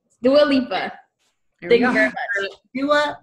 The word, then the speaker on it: Dua Lipa: Is it Dua Lipa? Dua Lipa? Dua Lipa. Brooke says, come on over here, Brooke. Tell the good people how to say her name. Dua Lipa.